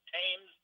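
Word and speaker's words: Thames: river pronounced with the t is hard hard pronunciation it's tames television I found out the river tames they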